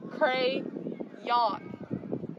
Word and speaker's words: crayon: understand why don't you say it again it's pronounced crayon cray yawn there's a y you don't pronounce the y